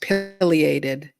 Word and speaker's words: pileated: It's pronounced pileated.